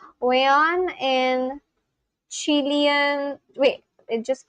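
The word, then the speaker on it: weón: Sorry, wayon. No, aeon. Let me see the pronunciation. Wayon in Chilean, wait, it just came.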